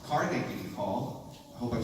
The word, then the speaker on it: Carnegie: But one interesting thing is, I've found out we've been pronouncing Carnegie Hall.